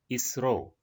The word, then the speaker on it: ISRO: Here we pronounce this abbreviated form as ISRO, means Indian Space Research Organization.